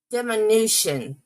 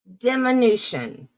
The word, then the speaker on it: diminution: If I was her, diminution. Thank you. Diminution. I was putting the wrong emphasis on the wrong syllable.